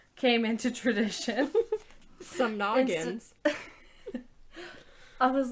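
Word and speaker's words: samhnagans: you that Google thought I was trying to pronounce the word shenanigans. Smaller bonfires known as shamnagans came into tradition. Some noggins.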